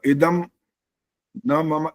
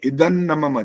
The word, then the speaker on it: इदन्न मम: और इदम न मम ऐसा नहीं, इदन न मम, जहां संधि हो रही है वहां संधि सहित बोलना होता है।